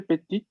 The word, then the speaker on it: petite: Quand j'étais petite, en este caso vamos a pronunciar la T, porque tenemos acá el femenino.